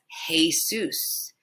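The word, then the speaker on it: Jesús: pronounced it yourself as Jesus. Jesus. But remember, the E is pronounced E. Just a simple E sound. So that's Jesus, not Jesus.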